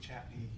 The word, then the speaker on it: Chautauqua: Chautauqua, but we pronounce it Chatney.